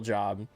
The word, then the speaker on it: Job: Yeah, Job is one of the books of the Bible. You probably don't know that. It's pronounced Job because it's about someone named Job, but it's spelled J O B.